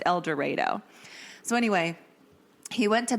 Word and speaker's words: El Dorado: pretty sure it's elero cuz I would have pronounced it El Dorado Kansas but it's apparently pronounced eloro so anyway he went to Butler Community College